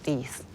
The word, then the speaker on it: Rhys: Pronounced as Rhys.